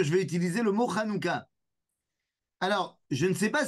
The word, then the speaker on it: Hanouka: des gens qui ont du mal à dire Hanuka puisque le son n'existe pas en français donc il y a des gens qui disent ranuka ou anuka bon moi j'ai aucun